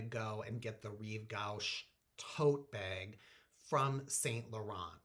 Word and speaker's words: gauche: how to say it i thought it was goosh and a friend who speaks french last night i think he said it's gauche so whatever but i